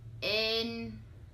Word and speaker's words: Ên: Thêm Next we have Ên Ên This one sounds like the word 'main' in English For example, Tên and